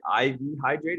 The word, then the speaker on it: IV Hydrate: of intent to acquire is it iv hydrate is that the correct way to say it yeah okay iv hybrid and